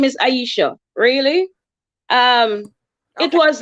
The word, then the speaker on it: Isha: you come back oh I normally pronounce my name Aisha yeah so you'll have